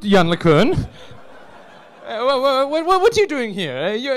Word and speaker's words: Yann LeCun: In fact, it is pronounced Yann LeCun.